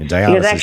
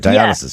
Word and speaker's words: Dionysus: Dionysus. At least you pronounce it right. Yeah, I didn't pronounce it right. Dionysus.